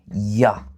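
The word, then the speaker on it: ja: ça devient ça devient ya. On va prononcer oui comme ya et non. C'est un peu ça. Donc j est prononcé comme Y en allemand.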